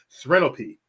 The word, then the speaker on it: Serene LP: Serene LP, like Serenity, but LP, Serene LP.